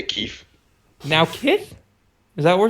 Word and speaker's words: Kith: Hi, my name is Keith. Or Kyeth, I think. Is that how you pronounce it?